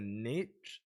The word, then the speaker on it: niche: finding variety within a niche or niche depending on how you say it is really important